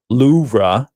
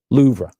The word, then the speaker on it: Louvre: Babel says the the correct pronunciation is Loura.